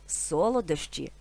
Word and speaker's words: солодощі: чи солодощі До речі слово солодощі з наголосом на першому складі має такі синоніми ласощі